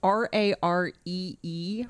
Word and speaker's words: raree: And we were researching rare shows, which is like rural, difficult to pronunciate on the radio, but it's RAREE, rare shows.